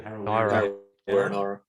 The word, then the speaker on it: Harawira: Harawira.